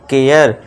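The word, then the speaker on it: care: अब इसे करे मत पढ़ना। केयर सरे नहीं शेयर। डरे नहीं डेयर। है ना? ए का साउंड देना है।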